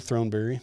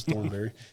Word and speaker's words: Throneberry: So, tonight's guest is Keith Fields and Jared Throneberry. Um, I was just telling Jared a second ago, I've been saying his name wrong for a long time. So, my apologies, Jared. I thought it was Thornberry.